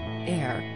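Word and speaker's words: Aire: Air, which Kylie confirmed is pronounced like Air, translates to Lion of God in Hebrew.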